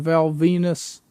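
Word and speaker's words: Val Venis: an adult movie and Val Venus which rhymes with my penis would and Val Venus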